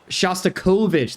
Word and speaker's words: Shostakovich: Shostakovich, that's how you pronounce it.